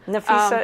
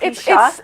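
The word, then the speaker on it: Napheesa: And to mispronounce her name, Nafisa is so much easier to say than right? Nafisha. It's phonetic.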